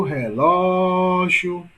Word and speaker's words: relógio: Em relógio, olha o relógio. Olha o relógio. Portanto, sílaba mais longa, ló. Não é isso? Portanto, a sílaba tônica de relógio é ló.